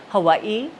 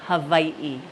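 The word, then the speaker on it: Hāwī: right so V hav some people say Hawaii and that's okay but we usually say Havi and then we have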